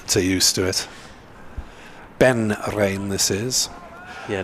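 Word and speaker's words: Raine: Ben Rain, this is. Yeah, no way of pronouncing that E at the end of his name, is there? Rene.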